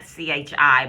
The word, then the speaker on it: qi: Now it sounds like chi, but it's spelled qi.qi.